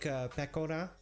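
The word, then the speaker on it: Pekora: in english i hear i hear pakora most often but that's a very english way of saying it right it's more like pekona is more the way a japanese person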